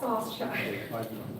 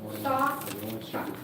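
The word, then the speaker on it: Sauschuck: Saucechuck, Michael Saucechuck. Saucechuck.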